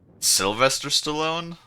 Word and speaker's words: Sylvester Stallone: No, it's Sylvester Stallone. What did I say? I don't know. No, it's just that, like, I recognize the last name Stallone, yeah, but you mean Sylvester Stallone. Sylvester Stallone?